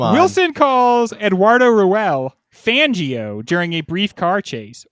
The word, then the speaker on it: Fangio: Because Fangio kind of rhymes with banjo, which is an American